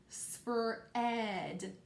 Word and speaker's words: spread: We hear that short E sound. So I'm just going to write E, right? Because it's a short E sound, right? No. Hopefully you said no, Miss Bale. You're being silly. We're working with that hunk and chunk EA, right? So I can't forget that A. That A is silent, but I can't forget it. It's still part of that word.